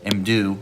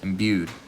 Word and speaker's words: imbue: right, to re-imdue, all right, how do you pronounce that word? Imdue, all right. Or is it? There it is, imbued.